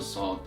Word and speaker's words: ص: manner, while the non-emphatic letters is pronounced in a much softer manner. And the corresponding non-emphatic letter for the letter Sod is the letter Seen, the first letter that we talked about today, which means the letter Seen and the letter Sod have a very close sound, but obviously they are not pronounced the same way.